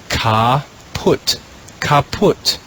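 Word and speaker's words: caput: the green row the first word is read ca put that's the latin word for head the second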